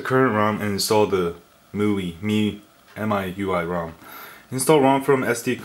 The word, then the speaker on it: MIUI: The right way to pronounce it. I've been going back and forth with a bunch of readers. It's MIUI. And then some people are like, MIUI or something, and then some people are like